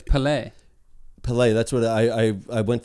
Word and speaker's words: Pelé: i had it it's not pele it's pele pelay that's what i i went through a few